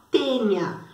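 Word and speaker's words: Taenia: Então, a solitária, o agente etiológico dela, o agente causador, ou o plateuminto que causa a doença, é a tênia. Se escreve taênia, mas se lê tênia.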